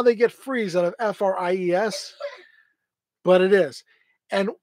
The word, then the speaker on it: Fries: So where I'm from, Fries is Fries. Here it's Freeze. I don't know how they get freeze out of Fries, but it is.